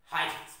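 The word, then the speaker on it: Huygens: हाइजेंस principal बताया ना उसका प्रोनाउंसिएशन, हाइजेंस प्रिंसिपल।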